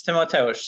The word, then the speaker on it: Timotheus: So please, Timotheus, tell me that I pronounced it correctly. Yeah, it's Timotheus.